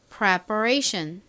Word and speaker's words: preparation: 자, 끝부분 ATION 아주 중요한 덩어리 철자입니다. Asian 소리 나는 거 잘 기억해 두세요. 자, 이 단어 발음 해볼게요. preparation. 천천히 해볼게요. preparation.